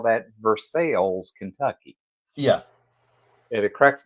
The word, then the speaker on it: Versailles: it versales so in Kentucky we call that versales Kentucky yeah and it cracks me up because everybody goes uh you know that's a French name and it's Versailles right like well depends on where you were